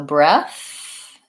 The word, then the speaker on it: breath: Okay, so breath has just the TH versus breadth has the D and TH.